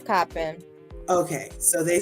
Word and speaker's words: Coppin: e d from how do you print I pronounce it shopping coffee it's coppin okay so they said it's coppin but I also say it's Wilshire when I